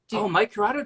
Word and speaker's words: Curato: And then I'm gonna say his name wrong. Mike Curato. Mike Corrado did that.